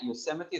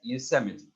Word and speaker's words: Yosemite: park yosemite park california yosemite this is how we pronounce this word guys yosemite if such words as